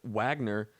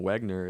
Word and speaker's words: Wagner: Jared Wagner, just learned that you actually don't say his name Wagner, it's pronounced Wagner.